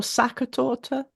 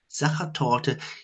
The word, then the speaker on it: Sachertorte: Is it Sachertorte or Sackertorte? Sachertorte.